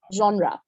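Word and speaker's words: genre: তারপর আমরা প্রোনাউন্সিয়েশন শিখবো, যেমন আমি রেড দিয়ে যে ওয়ার্ডটা লিখেছি জনরা, হ্যাঁ দ্য প্রোনাউন্সিয়েশন ইজ জনরা, ঠিক আছে?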